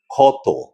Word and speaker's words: ক্ষত: যদি শব্দের শুরুতে ক্ষীয় থাকে তাহলে তার উচ্চারণ হয় পরিষ্কার ক্ষয়ের মতো।